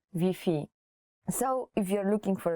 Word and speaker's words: Wi-Fi: spelling is the same you have to change wi-fi to vp so if you're looking